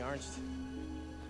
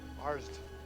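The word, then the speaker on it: Arzt: than you want let me ask you something ared arsed ared no not ared ARS a r ZT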